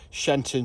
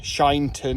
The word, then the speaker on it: Sheinton: church which comes to shenton church or shyon church shinton I think it is pronounced correctly um and all the money